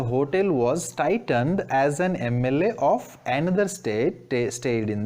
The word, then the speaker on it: MLA: The hotel, already known thing it is, was titled as an MLA. Here the word is, this acronym is started with M, but we are pronouncing it as A, MLA.